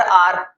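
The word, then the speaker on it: hour: Board पे लिख देता हूं चलो मैं, कुछ बच्चे इसको पर आवर पढ़ते हैं, आवर नहीं बोलते आर बोलते हैं, आर एच साइलेंट होता है।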